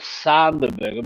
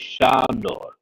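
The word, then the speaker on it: Sándor: Now they call it Sanderberg, but his name is Shandor. Shandor is a Hungarian name, and Berger sounds more Germanic, but Shandor. Shandor is actually Alexander in Hungarian. It's a Hungarian pronunciation, Shandor. So if I speak about him, I'll call him Shandor, which he's supposed to be.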